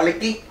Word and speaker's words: kalikih: Kalik, kan? Huruf 'h' tidak diucapkan, kan? Tidak, kalikih. Kalikih, oh, saya mengerti.